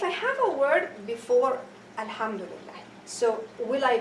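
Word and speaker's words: الحمد لله: little okay if I have a word before alhamdulillah so will I pronounce this let's see if I have the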